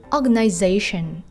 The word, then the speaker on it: organization: Rồi, đối với từ organization, chúng ta đã gặp rất là nhiều trong cả cái bài này rồi. Và trọng âm chính rơi vào âm tiết số 4 nốt đúng không ạ?